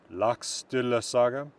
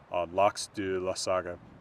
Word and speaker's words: Laxdæla: like the title of Laxdæla Saga. Modern Icelandic, that's Laxdæla Saga and isn't Laxdæla Saga. I'm emphasizing it weirdly because I'm pronouncing this vowel, and it's not even spelled the same.